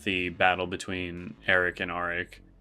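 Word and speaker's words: Arryk: battle between Eric and aric I think they're still both pronounced Eric but I'm I can't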